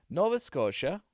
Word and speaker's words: Nova Scotia: Nova Scotia is Nova Scotia.